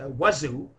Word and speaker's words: wudu: First, there is wuzu, or wudu, whatever you want to pronounce it.